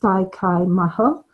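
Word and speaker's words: Dai Ko Myo: Pronounced Dai Kai Maho in Yushai Reiki, it's known as the master symbol.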